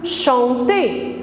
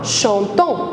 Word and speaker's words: chantent: mais à la fin on l'a prononcent pas chantant on dit chante parce que le mt la terminaison du plus violent envers présent ne se prononcent pas ce sont des lettres muettes d'accord alors la terminaison